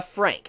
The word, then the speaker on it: FranXX: way to pronounce it you're supposed to say darling in the Frank so I just want